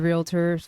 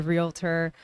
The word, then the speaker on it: realtor: your friends know your realtors family members know your realtor by the way it's realtor not realtor it is there so we all add that extra syllable in there i do it too